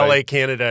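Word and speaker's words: La Cañada: you went to LA kinata High School is that am I saying it right yeah like Canada yeah La Canada in fact uh uh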